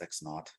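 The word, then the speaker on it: x₀: So that's pronounced x naught, x0, you know. But x naught is what we usually refer to it as.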